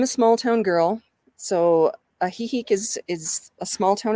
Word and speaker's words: Ajijic: go to is ajijic and you actually you spell that a j i j i c and i'm a small town girl so a heeheek is is a small town as well it